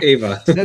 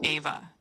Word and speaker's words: Ava: The main female robot character in Xmachina is named Ava. You pronounce it like ava with the emphasis on the first syllable.